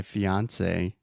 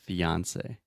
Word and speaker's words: fiancé: So I would say my fiance and I are traveling or something. Yeah, fiance. Just like Beyonce.